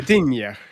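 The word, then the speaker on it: Gdynia: I've been to the unpronouncable word camp that I can never say. What is it? Gadina or something. Gadinia.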